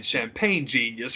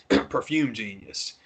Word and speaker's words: Perfume Genius: there's a song that I don't want to say it wrong. I've said it wrong all weekend. It's a performer who performs under the name Perfume Genius. I've been saying Champagne Genius for 2 days.